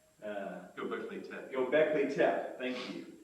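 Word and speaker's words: Göbekli Tepe: cities that we see uh I will never pronounce it right g go gockley te thank you gockley te uh a city that is estimated to be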